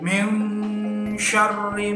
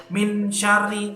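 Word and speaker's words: مِن شَرِّ: Jadi bacanya harus min syarri. Nah, agak sedikit samar-samar, jangan gitu, jangan min syari, itu juga salah. Jadi harus sama-sama min syari ma. Nah, shin itu harus dibaca shin, jangan sin.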